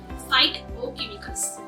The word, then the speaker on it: phytochemicals: Phytochemicals, can be pronounced as “fight-o-chemicals” which means it will fight to protect your health from diseases. They have anticancer, antibacterial and antiviral properties.